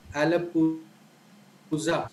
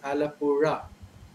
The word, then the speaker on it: Alappuzha: And there's a place in Kerala called Alappuzha. People, most people who are not aware of this sound pronounce it as Alappura. So this sound is unique only to Malayalam and the Tamil languages.